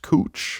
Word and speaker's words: Couch: Like, was anyone like Just so you know, the street that's spelled like couch, it's actually pronounced cooch.